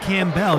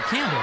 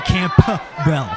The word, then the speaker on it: Campbell: his last name wrong you said camell you didn't pronounce the p and he made the